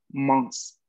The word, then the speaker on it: mince: Porque en realidad la pronunciación va a ser mons, mons, ¿no? Que es una I nasal en este caso, ¿no?